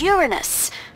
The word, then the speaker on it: Uranus: jokes about uranus besides the proper pronunciation is uranus it's a tactile sorry